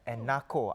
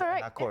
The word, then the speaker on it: Enako: This whole cosplay, how big it is, because Japan's top cosplayer, Enako, I don't know whether I'm getting it right. I think it's pronounced as Enako, right? Enako, yeah.